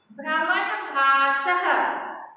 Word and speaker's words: भ्रमणभाषः: यहाँ पे आप नोटिस कर रहे हो ना, ह नहीं लिखा हुआ है, ह नहीं लिखना है यहाँ पे, केवल प्रोनाउंस करना है ये विसर्ग को ह की तरह।